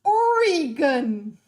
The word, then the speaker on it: Oregon: not Tough Enough anyway it's pronounced Oregon I don't pronounce anything